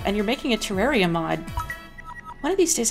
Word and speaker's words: Terraria: myself look entirely the fool I will remember Terraria and now I know now this is the